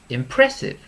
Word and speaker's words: impressive: So at the end, we have impressive. Impressive. So you can see it's 3 syllables. The stress is on the middle one.